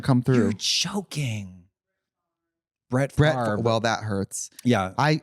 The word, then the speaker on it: Favre: Favre. Favre. I'm assuming it's French. Sounds Like French. chèvre.